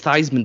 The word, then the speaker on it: Theismann: Like, his name is Theismann because it rhymes with Heisman.